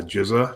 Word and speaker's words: GZA: There's another guy in the group called the Jizza. GZA is how he spells his name.